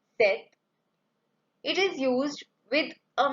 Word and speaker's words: cet: adjectives set third one CET the pronunciation is same set it is used with